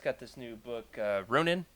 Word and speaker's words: Ronin: I just got this new book, uh Ronin. How do you say it, Freddy? Runin. Yeah. Yeah. Yeah, he says it so much better. I actually, ever since you said that, have only heard it in your voice.